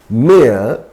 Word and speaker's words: mayor: Actually, we can pronounce again mayor as mayor, both are pronounced in this way. That means A sometimes you can pronounce in the way that Y is silent.